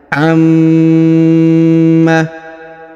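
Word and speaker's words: عَمَّ: kita Jelaskan bersama ya Amma nah perhatikan huruf Ma ditahan dan ditekan karena terdapat tanda tasdid ya Amma perhatikan huruf dipanjang Li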